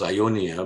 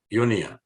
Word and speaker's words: Ionia: a region called well I pronounce this Ionia but you could reasonably pronounce this as Union so iom it could